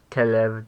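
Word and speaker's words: כלב: have to use kba actually Kev might have first syllable stress let me check that real quick so it turns out Kev does have first syllable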